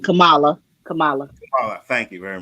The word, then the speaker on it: Kamala: is man I keep saying it wrong cam camela Harris all right Kamala Kamala Cala thank you very much Kamala camela